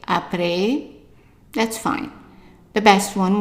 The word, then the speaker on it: après: How would you pronounce the first word here? Right. Après.